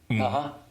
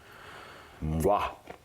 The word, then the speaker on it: Mgła: Mgwa. Mgwa. You sure of that? I'm pretty sure. That's how I've seen it pronounced. And heard it pronounced. Okay. Here we go. Mgwa.